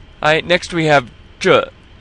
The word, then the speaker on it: 这: Now, you have this E on the end, so we have the vowel ending like in the. And then you started off with the zhi, as in 中国, and what we just learned with 照片. So you're curling your tongue. And here's the result.